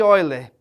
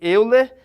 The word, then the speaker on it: Euler: nós temos aqui embaixo a fórmula de oiler embora a gente consiga ler Euler mas o nome é pronúncia é olha certo a fórmula de